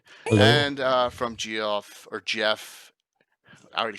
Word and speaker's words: Geoff: But when we were doing it, we had our own pronunciation during the Living Greyhawk times. It was Eric had a little document on it as well, because we sort of based the Flan Geary off of Welsh, and so there's a whole pronunciation guide, and so Geoff became Geoff, which was the Flan pronunciation for it.